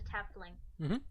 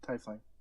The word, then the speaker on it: Tiefling: She's a Tefling. Tiefling.